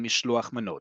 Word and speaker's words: mishloach manot: In modern Hebrew, it's called mishloach manot.